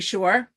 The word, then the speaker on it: Shore: name my name is Shore rhymes with entrepreneur um and let's see